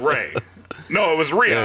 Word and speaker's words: Rhea: I, like a dumbass, pronounced her name Rhea instead of Ray.